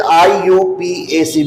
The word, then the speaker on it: IUPAC: First one, common name, and second, I.U.PAC. It should be I.U.PAC. You should not pronounce IUPAC. It is not IUPAC, it is I.U.P.A.C, because its full form is International Pure and Applied Chemistry.